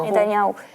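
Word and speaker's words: Netanyahu: que está haciendo Netania, ¿cómo es que la pronunciación correcta? Netaniau.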